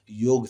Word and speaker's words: योग: गणेशा हो जाता है, योगा हो जाता है, जबकि योगा नहीं होता है। हम लोग हिंदी में लिखते हैं ऐसे योग, लेकिन इसे ही जब